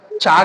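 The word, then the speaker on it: chalk: silent कब होता है यदि के से पहले एल हो तो एल लेटर साइलेंट हो जाएगा के से पहले एल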